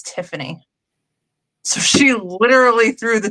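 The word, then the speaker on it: Theophanie: But if you go back to the original spellings and how things were pronounced at the time when that particular name came about, it's Tiffany.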